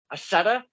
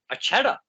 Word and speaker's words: Accetta: And, it could be pronounced Accetta or Accetta. Just remember that, boys and girls. But that's the old Italian, if you will. Accetta.